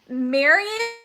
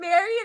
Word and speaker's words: Marian: fact about mispronouncing words i used to always say marion in apparition like in harry potter instead of marrying apparition which is so horrible